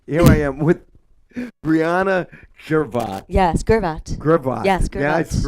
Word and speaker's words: Gervat: Some people always do the soft G. They go Gervat, but it's Gervat.